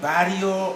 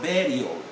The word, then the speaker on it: burial: americans very very so there is nothing like barrio or it's all burial even when it becomes a noun it's a burial ground not barrio ground so here we go burial have you heard that burial and americans burial again burial yes and when i